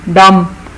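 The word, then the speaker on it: dumb: तो ये है साइलेंट बी, डम, अनएबल टू स्पीक या स्टूपिड बंदे को डम कहते हैं।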